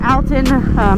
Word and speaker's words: Alton: Today we are going to explore the Old Alton Bridge, or Alton. It's pronounced a couple different ways, better known as Goatman's Bridge.